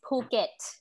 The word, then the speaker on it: Phuket: called phuket okay and this is not uh phuket even though it's spelled with ph so ph in thailand is actually meant for you to pronounce uh okay with more air so it's phuket okay yes so uh